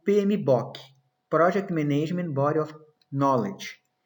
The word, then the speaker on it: PMBOK: Por que a gente não fala PMBOK? Porque não é book com 2 Os, não é um livro, tá? É PMBOK.